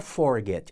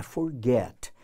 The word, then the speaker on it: forget: E um exemplo com duas sílabas com a tônica na última. Então, a gente tem aqui, ó, forget, duas sílabas. Só que onde é que está a tônica? Ó, na última, ó, forget. Então, forget, duas sílabas com a tônica na última. Não é forget, é forget.